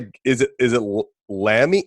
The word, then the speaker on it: Lamie: So, I'm going to is it is it Lammy? How do you say your last name? Yes, Lammy.